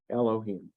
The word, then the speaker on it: Elohim: yeah the Adonai and and yet you know to pronounce it Elohim okay so Adonai Elohim